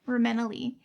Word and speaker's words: Reimena Yee: Reimena Yee and this is just adorable.